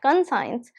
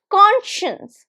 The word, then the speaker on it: conscience: in your life, and this is not conscience. So this is conscience. There is sh sound. Conscience. Conscience. How many syllables? Very easy to recognize. 2 syllables. Conscience. And the stress is on the first one.